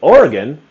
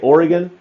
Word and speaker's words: Oregon: they will Lynch you oregonians hate when people mispronounce or Oregon there's different ways some people say Oregon some people say Oregon like the E the old I think people used to say Oregon more with the e sound and now they